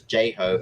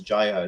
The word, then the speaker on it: Jai Ho: the Pussycat Dolls or Nicole Scherzinger says J Ho and then the other guy says Jai Ho, so they're pronouncing it wrong in their own song.